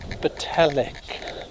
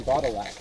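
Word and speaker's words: Botallack: And the town is called Batalic. Batalic. Like, pronounced like metallic. Yeah. And here we were saying Batalac.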